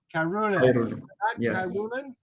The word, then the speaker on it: Khairullin: with your last name i don't want to mispronounce it carolina um he is in new york city with